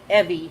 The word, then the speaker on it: Evie: to pronounce that no but Evie rhymes with Chevy so that's how you say that okay watching the cats